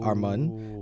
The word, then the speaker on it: Armand: is actually because Armand is actually like a slight mispronunciation. So it's actually Mun, like Monday, or like money. It's like Armand.